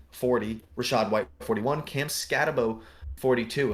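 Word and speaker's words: Skattebo: I'll have to figure out how to pronounce his name. Austin Eckler 43, and Brayen Allen 44. I've heard it scatter. And there's only one. So I'm thinking it's Bo. I'm thinking it's Cam Scatabo.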